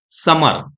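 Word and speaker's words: summer: म दो बार आ रहा है बट हम प्रोनाउंस कैसे करेंगे समर ठीक है एक ही बार म का यूज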